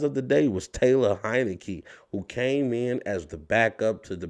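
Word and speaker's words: Heinicke: and i said taylor heineken you know i was able to remember his name because it rhymes with heineken but taylor heineke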